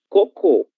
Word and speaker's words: cocô: A única diferença além da escrita é a pronúncia coco. Coco, sílaba tônica, a primeira, cocô, sílaba tônica, última.